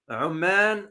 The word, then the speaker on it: Oman: Now, don't confuse Oman with Amman. If you notice my pronunciation, Oman is the country.